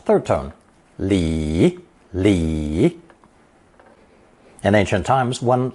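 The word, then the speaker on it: 里: with the plot of land the residents cultivated pronounce thurton Lee Lee in ancient times one Lee consisted of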